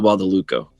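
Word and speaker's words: Badalucco: describing the previous thing i got the last name wrong but michael bought the luco we got it right we overall the uh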